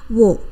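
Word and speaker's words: を: kita akan menggunakan partikel O ya kalau di dalam huruf Hiragana ini cara bacanya adalah wo ya teman-teman namun ketika kita gunakan sebagai partikel maka cukup cara bacanya O seperti itu saja ya teman-teman nah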